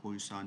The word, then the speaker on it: Poisson: Uh dear students, uh in this session I'm explaining poan distributions as you can pronounce it like posan distribution.